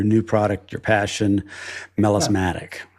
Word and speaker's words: melismatic: melismatic, right? Is that how Yes, you pronounce melismatic.